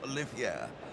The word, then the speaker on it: Olivier: danan Olaf danan Olivier there you go danan Olia and we could be mistaken for thinking he related to Lawrence Olivier he spells his name that way but it's pronounced olier and danan it's a bit like the Indian